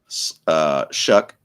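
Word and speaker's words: Shough: Shuck. That's right. Shuck looked way better.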